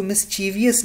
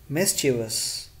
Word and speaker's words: mischievous: Sam dress hospital girls mischievous is to miss cheevus nahi Pernambuco giovanna mischievous mischievous he mischiefs any